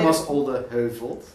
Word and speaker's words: Thomas Olde Heuvelt: Thomas Olde Heuvelt.